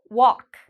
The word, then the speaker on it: walk: Okay, we have the A. So this means the L is silent. Walk.